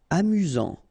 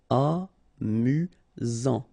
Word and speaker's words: amusant: Amusant. Final T not pronounced. You get only one S here between the vowels, so it's really this Z sound. Amusant. Amusant.